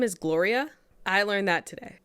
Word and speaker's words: Gloria: Like with the double L making a Y sound? No. Her name is just Gloria. I know, but is it spelled the same way as Glorilla, but the double L, like in Spanish? No. Gloria. No. Gloria. Her name is Gloria.